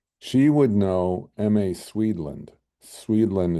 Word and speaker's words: Swedland: Swedland is spelled like Sweden, but Land.